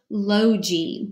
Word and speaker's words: logy: look at is Logie this is a two syllable word it means study of so ello is open lo and then the G Y they eat the Y is going to say e like we normally know at the end of the two syllable word and the G becomes soft because it's followed by a y the G will say logy means study of and